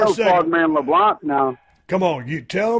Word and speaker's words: LeBlanc: The C is silent, so you got to say LeBlanc, not LeBlanc.